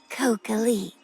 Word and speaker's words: Kokalik: Come, call my name. Kokalik. Honestly, would have pronounced it Kokwelik. But yeah, Kokalik, sure.